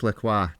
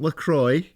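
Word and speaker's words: Maurice Lacroix: let's try that again Maurice laqua not lacroy laqua no come on practice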